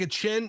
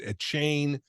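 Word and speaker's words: Achane: things um I think a chin by the way that's how he wants his name pronounced that that was one of the things they talked about it was a chain people are calling him a chain no he wants a chin he said that but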